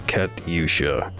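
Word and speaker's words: Катюша: kachusha uh 8-bit version i always forget how to pronounce it it's kat yusha okay you could sue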